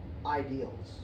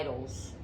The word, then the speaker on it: idols: Now, if he's credible, he's saying there's only one God, there's one way, and other gods are ideals. Right? Idols.